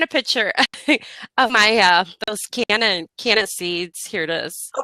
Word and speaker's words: Canna: The Cannon, or how do you say that? Canna, Canna.